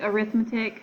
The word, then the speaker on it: arithmetic: I know it looks like arithmetic, but for sequences, for whatever reason, it is pronounced arithmetic.